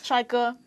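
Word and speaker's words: 帅哥: 帅哥. Sorry, don't add the R sound. 帥哥.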